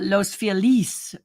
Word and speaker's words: Los Feliz: feliz should be pronounced uh los feliz but it's been and